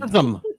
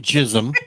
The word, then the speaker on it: Gizm: Gizm, not Jism. That's my fault.